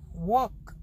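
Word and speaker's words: walk: वॉक, work, देखो वॉक, इसमें L silent है.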